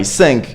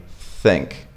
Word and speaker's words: think: is so simple so instead of going i sync you just go I think it's right here you